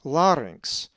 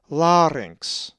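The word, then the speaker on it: λάρυγξ: The double consonant gamma xi is always pronounced inx, as in larynx. A Greek word that has the gamma xi is larynx, from which our derivative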